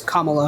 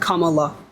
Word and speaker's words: Kamala: I know this is a common Mis pron mispronunciation of her name it's it's Kamala like Kamala Kamala okay um so you got but you